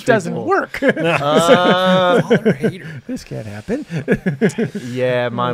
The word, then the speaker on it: Hayter: It's spelled H-A-Y-T-E-R. And so just the A is silent.